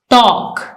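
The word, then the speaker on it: talk: टॉक, इसमें L silent है।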